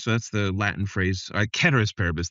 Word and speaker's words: ceteris paribus: Ceteris paribus. They correct me. My Latin speaking. It's a hard C. Ceteris paribus in the Latin.